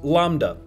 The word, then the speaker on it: lambda: which is represented by the Greek letter l pronounced Lambda plug values for Lambda called Dark Matter and